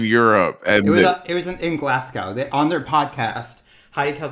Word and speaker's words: Glasgow: about it Jacob is is pronounced Glasgow not glass gal honey but also I